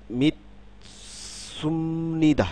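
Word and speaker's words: 믿습니다: তারপরে খেয়াল করুন মিত মিত সুমনিদা, মিতসুমনিদা, মিতসুমনিদা, মিতসুমনিদা, হ্যাঁ? এই স পরিবর্তিত হয়ে গেল, এই বিউপ পরিবর্তিত হয়ে গেল, মিতসুমনিদা।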